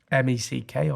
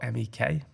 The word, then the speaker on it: mek: MECK or MEK. Okay, and that means? I think it's just the northern way of pronouncing make.